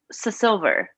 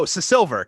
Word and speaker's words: Seasilver: Now, tell me if I'm pronouncing this incorrectly, but I believe it is Captain Marina Seasilver. Is that correct? Seasilver. Oh, Seasilver.